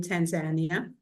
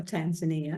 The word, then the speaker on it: Tanzania: to love from being in Tanzania or Tanzania as the Americans say it and it has a